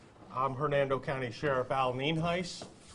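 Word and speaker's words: Nienhuis: for showing up i'm hernando county sheriff al ninhais it's spelled n-i-e-n-h-u-i-s and it's pronounced neem heis we also have a couple individuals here that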